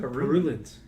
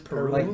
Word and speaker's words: purulent: Purulent. What is Purulent? purulent? Peruvian. That makes purulent. Let's get the pronunciation.